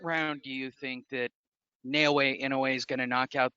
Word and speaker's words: Naoya Inoue: Do you believe that Jason Maloney is going to show that Naoya Inoue, I just like saying it because I know how to pronounce it correctly, unlike the Spanish and Hispanic names that I butcher daily.